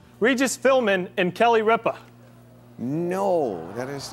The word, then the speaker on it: Ripa: puzzle please all right Regis filburn and Kelly Ripper no I'm sorry we can't accept that and